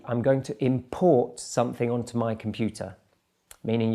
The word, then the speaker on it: import: So the stress there is on the second syllable. Let's look at another example. Import and import.